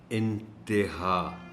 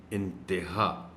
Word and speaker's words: انتہا: کو استعمال کرتے ہوئے تے کے نیچے زیر کو نمایاں کر کے پڑھیں، اور اس کا درست تلفظ ہے انتہا تے، انتہا.